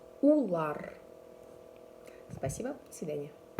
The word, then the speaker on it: улар: Мы произносится так. Бед. Бед. Вы. Хев. Хев. И они. Улар. Улар.